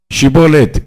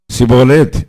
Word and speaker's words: ஷிபோலேத்: அவன் அல்ல என்றால் நீ ஷிபோலேத் என்று சொல் என்பார்கள். அப்பொழுது அவன் அப்படி உச்சரிக்க கூடாமல் சிபோலேத் என்பான் அப்பொழுது அவனை பிடித்து யோர்தான்